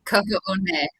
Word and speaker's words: Kaho'onei: Kaho'onei. Kaho'onei. Kaho'onei. This is wonderful. This is great, you know, pronunciation.